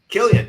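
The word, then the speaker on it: Kilian: Killian, yeah.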